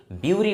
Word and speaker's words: bury: इसे कभी कभी लोग बरी बोलते हैं और कभी कभी ब्यूरी बोलते हैं, बट इसका सही प्रोनाउंसिएशन जो होता है that is called bury, right?